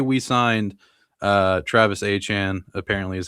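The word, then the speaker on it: Etienne: more speedy guy, like say we signed Travis Achan, apparently is how you pronounce his name, Travis Achan Jr., who ended up signing with the Saints, I believe.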